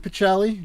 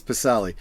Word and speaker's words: Pacelli: uh I pronounce it pacelli natter pronounces it pacelli but most of my family says pasali just because it's been anglicized for so many so many years but yeah okay for